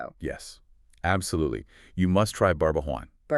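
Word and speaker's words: Barbajuan: You must try Barbwan. Barbuan. Okay, spell that out for us. B A R B A J U A N. Barbawan.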